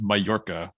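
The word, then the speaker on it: Mallorca: the Mediterranean the island I said it was Mala apparently it's pronounced mayorca so uh um I don't know how to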